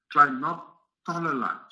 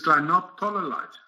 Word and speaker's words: clinoptilolite: It is clinoptilolite, not clinoptilolite. It's a zeolite.